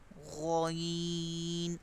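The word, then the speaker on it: غ: Ghoin, again from upper part of the throat.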